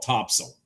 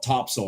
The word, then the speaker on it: Topsail: It's now for those of you that don't live around here, it's Topsail, all one word, but they call it Topsail. Locals call it Topsail Island.